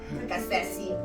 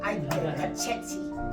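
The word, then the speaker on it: Caceci: Yeah, she says a lot of people don't pronounce her last name right. Cachechi, Cachechi, C-A-C-E-C-I. She was our next door neighbor,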